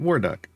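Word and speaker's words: Warduke: We call him Waruck. Uh cuz because there's a skin there where he's literally a duck. The E is silent. Waruck.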